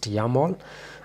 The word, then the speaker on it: YAML: This is how it's pronounced, YAML.